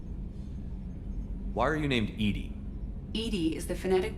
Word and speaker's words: EDI: is a jar why are you named edie edie is the phonetic pronunciation of that is an acronym for enhanced